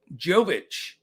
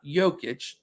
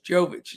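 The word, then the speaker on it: Jović: The rookie Nikola Jovic, not Jokic, Jovic. It almost looks the same, but he's from Serbia, and he was drafted by the Heat.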